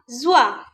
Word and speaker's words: joie: La joie. La joie. Here we are pronouncing only the letter O-I. We are not pronouncing the letter E.